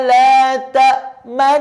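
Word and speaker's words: لَا تَأْمَنَّا: Cara bacanya ada 3 syarat. Yang pertama menunjukkan nun sukun. La ta'man. Kemudian mencucu karena harus ismam. La ta'man. Kemudian kembali. Nah, ada nun tasydid. La ta'man. La ta'manna.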